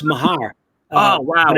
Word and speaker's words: Meagher: Rick, actually, it's pronounced Mahar. Oh, wow. But it's funny. Everybody always said Meagher.